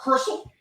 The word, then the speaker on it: Crystal: What up, Crystal? Rhymes with Gristle.